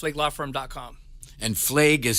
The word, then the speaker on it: Flaig: firm is WWF league law firm calm and flag is spelled hal f as in Frank L AIG